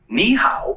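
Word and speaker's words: 你好: nice to meet you niow is pretty straightforward to pronounce it sounds like knee how just make sure to keep the knee part high and then go down and pitch on the how give it a track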